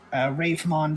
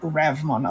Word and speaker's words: Ravemon: Like uh Ravemon doesn't have an E, but in English has an E because English speakers probably pronounce it Ravmon otherwise.